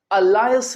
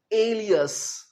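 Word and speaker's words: alias: सो इसे आपने अलायस नहीं कहना, क्या कहना है? एलियस।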